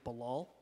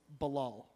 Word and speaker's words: Balal: myself to friends I say my name is balal what is it and my I say my name is balal balal but um so my cousin's over there